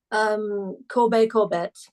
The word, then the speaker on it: Corbet: I've seen a lot of people who've been pitting it purely against him, and is it Corbett or Corbet? Do you pronounce the T? Corbett.